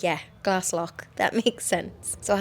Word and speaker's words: Glaslough: I believe it is Glass Lock, not Glass Low.